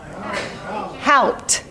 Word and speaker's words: Haupt: Haupt. Yes, Haupt Garden. I can't pronounce it, but I do want to save it.